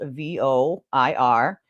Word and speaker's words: voir: And you might see this spelled V-O-I-R. Okay, voir. It's French.